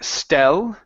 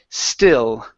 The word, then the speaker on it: still: the word still okay give me a short I instead of saying stell with a short e it's a stick still come good one more